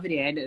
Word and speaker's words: Rihanna: Yeah, so what happened actually was I love Riyana, that's how you pronounce her name, so much.